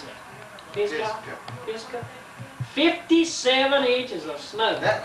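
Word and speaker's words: Pisgah: How do you pronounce it? Fisca.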